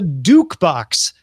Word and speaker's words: Dukebox: last week or so the dukebox rhymes with jukebox it's a smart speaker